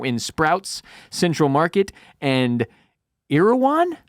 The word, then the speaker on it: Erewhon: Shipped internationally to over 65 countries, now in Sprouts, Central Market, and Erewhon? Erewhon. Is that how it's pronounced?